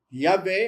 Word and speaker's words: Yahweh: Yahweh or Yahovah if you want to, depends on how to pronounce it. Both are correct.